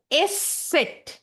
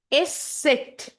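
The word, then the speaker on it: Eszett: उसको हम लोग बोलेंगे एस सेट. ओके, एंड लिखने की समय एस सेट का प्रोनाउंसिएशन डबल एस की तरह साउंड करेगा. While writing, the pronunciation of S set will be somewhat like double S.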